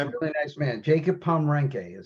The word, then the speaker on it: Pomrenke: Mark, how did you pronounce Jacob's last name? Pembroke? No, it's Pomrenke. Oh, Pomeranke? I know him pretty well too. He's a wonderful guy too. I, Really nice man. Jacob Pomrenke is how he pronounces his name.